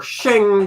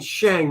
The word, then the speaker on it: Shang-Chi: We got our Shang Chi. I was saying Shang my whole life, and now I hear it's actually pronounced Shang.